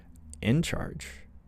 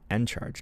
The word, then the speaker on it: Encharge: I can invest in In charge and maybe I'm saying it wrong Encharge, not in charge.